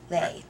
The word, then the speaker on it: Lei: And it's pronounced. Lay.